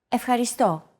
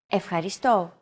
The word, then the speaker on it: ευχαριστώ: It's the accent mark, and it indicates that this syllable is stressed. A stressed syllable is pronounced slightly longer and at a higher pitch than the rest of the syllables in a word.